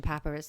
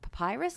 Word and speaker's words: papyrus: sort of famous Egyptian papyrus that they found. Papyrus? How do you say it? Yeah, we've run into this before. Yeah, it's papyrus. It's not papyrus.